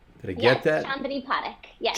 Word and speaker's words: Chandni Parekh: Chandni Parekh. Yes. Chandni Parekh. Okay, gotcha. The accent is on the first syllable.